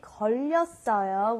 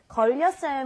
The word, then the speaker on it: 걸렸어요: Okay, when we say 걸렸어요, we have the 받침 르, and you carry it over to the next syllable, and sometimes a lot of foreigners kind of get this a little confused.